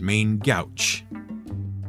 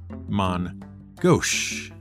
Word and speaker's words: main gauche: seen written down and often mispronounced as main gouch but is more correctly pronounced as mon gosh it's a french phrase and simply means using